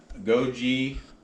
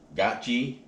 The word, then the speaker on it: goji: And the other different ingredient is goji or gachi. They're pronounced both ways.